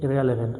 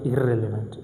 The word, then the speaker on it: irrelevant: Same case, for example, irrelevant. I don't say irrelevant, irrelevant. Irreplaceable, I will say irreplaceable. Only one R is pronounced.